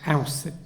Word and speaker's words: Auset: Accepting the throne as Aus, which we saw in the name of Ausir Osiris, the egg is pronounced Set or Sut, while the female determinative repeats the T sound. Hence her name was something like Auset.